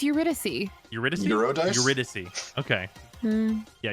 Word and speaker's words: Eurydice: No, it's Eurydice.